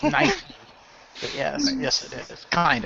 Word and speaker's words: Nike: and they're like no it's meant to be Nike. Our company says it's Nike. He even says on the adverts over here and stuff of Nike. That's how it's supposed to be pronounced. Okay then.